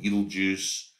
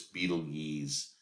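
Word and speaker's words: Betelgeuse: constellation um of Aion called Beetlejuice um actually you pronounce this Beetle yees um and then the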